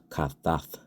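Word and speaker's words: חתת: It's made up of a cha, all right? That's CHAA, cha. That's it's a real guttural type of sound. You gotta kind of use your throat to pronounce that sound properly.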